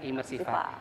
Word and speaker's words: imersifA: Ternyata imersiva itu memang karena lokasi ada di gedung A, jadilah imersif A. Dan bacanya imersiva.